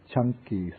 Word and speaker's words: Canki: this is called the chunky Sut in po the C it's pronounced like CH and this sutta is